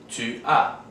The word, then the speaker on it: tu as: For the second person singular, we have tu as. For the third person singular, we have il a. These two, although spelled differently, are pronounced exactly the same, a.